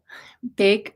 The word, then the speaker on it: Bake: Bake rhymes with cake.